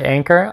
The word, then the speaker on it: Anker: wireless charger by anker some people say anchor i like to pronounce anker but i've already screwed